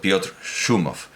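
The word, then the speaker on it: Piotr Szumow: En la Wikipedia en polaco lo presentan como Piotr Schumow, igual pronunciado Piotr Schumow.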